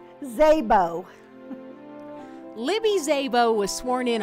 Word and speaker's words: Szabo: county commissioner let's start by pronouncing her often mispronounced last name Szabo Libby Szabo was sworn in on january thirtieth